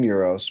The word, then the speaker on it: gyro: So a regional thing, we call them Euros, but I accept the pronunciation from wherever you live.